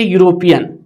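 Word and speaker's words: European: शुरुआत हो रहा है, स्पेलिंग ई से है, लेकिन ये आपको यहाँ पे अ का प्रयोग करना होगा, क्योंकि जो है उच्चारण इसका जो है ये व्यंजन है, उच्चारण इसका व्यंजन है।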